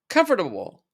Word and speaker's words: comfortable: When we say it quickly, comfortable, comfortable, comfortable.